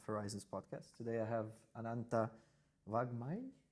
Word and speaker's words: Vangmai: Today I have Ananta Vangmai. Vangmai. Perfect. I was nervous about pronouncing that.